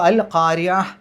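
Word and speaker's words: القارعة: പാരായണം അവസാനിപ്പിക്കുമ്പോൾ അതിനെ താന്റെ ഉച്ചാരണത്തിൽ അല്ല സുക്കൂനുള്ള ഹിന്റെ ഉച്ചാരണത്തിലാണ് അവിടെ പാരായണം അവസാനിപ്പിക്കേണ്ടത് അപ്പോ അൽകാരിയ അവിടെഹ എന്നുള്ള ചെറിയ കാരിയ അന് കഴിഞ്ഞിട്ട് ഒരു സുക്കൂനുള്ള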